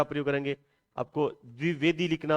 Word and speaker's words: द्विवेदी: द्विवेदी ये बोलते हो ये इतना गलत उच्चारण कर पाते हैं जबकि ये द्विवेदी है जैसे बोलते हैं आचार्य हजारी प्रसाद द्विवेदी ना कि द्विवेदी द्विवेदी तो यह द्विवेदी